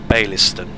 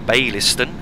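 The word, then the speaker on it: Baillieston: stop which is biston I'm not sure if that's pronounced quite right it's it's spelled b a i w l i s t o n sorry i e s t o n so I believe it should be biston if not then it's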